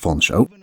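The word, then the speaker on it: Featherstonehaugh: You play as Pierce Feather Stonehoe, actually pronounced Foncho because English is truly a magnificent language.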